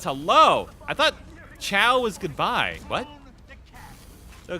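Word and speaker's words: Ciao: Oh, Chow. That's how it's pronounced.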